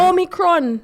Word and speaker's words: Omicron: Omicron. That's what it's called. Omicron. Omicron. Not Omni. It's not Omni. It's Omi. Omi. There's no N.